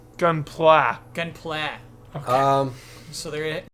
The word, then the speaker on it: Gunpla: I learned that gun gunpla is how you pronounce it gunpla gun play um so